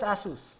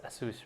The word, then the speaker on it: ASUS: So is Asus. Yeah. Is it? It's Asus, right? I don't know. I think it's Asus, not Asus.